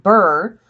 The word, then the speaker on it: Brr: in this is that the town of Burr be RRR that's that's actually how it's spelled it's the premise the